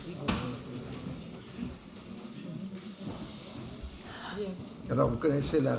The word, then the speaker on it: Ouïghours: C'est du turc. Oui, en français on prononce Ouïghours.